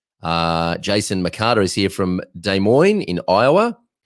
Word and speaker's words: Des Moines: Jason McCarter is here from Des Moines in Iowa. It's taken me 47 years to figure out how to pronounce that city, Des Moines.